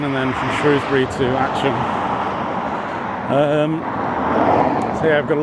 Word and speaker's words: Atcham: I'm back here in Atcham, and it is definitely pronounced Atcham rather than Atcham because the taxi driver that brought me here today was a bit confused when I asked if he could take me to Atcham. So yeah, it is Atcham.